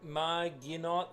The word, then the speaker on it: Maginot: The French, Maginot Line.